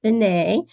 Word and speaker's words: Finney: He says his last name is Finney. It looks like Finney, but he asked me to pronounce it as Finney.